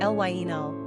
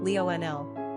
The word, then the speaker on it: Lionel: French number of syllables two ranking popularity 733 pronunciation elaino Leonel simple meaning little lion characteristics of Lionel practical